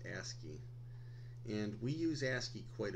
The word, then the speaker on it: ASCII: American Standard Code for information interchange and that's pronounced ASCII and we use ASCII quite a bit here